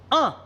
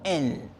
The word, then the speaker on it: un: Tenemos un, se pronuncia un, no en.